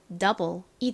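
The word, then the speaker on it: double: 뭐라고요 헛개입니다 소리가 나지 않죠 그래서 읽어 보면 더블이 되죠 자 더블 따라해 볼까요 더블 더블이 더블도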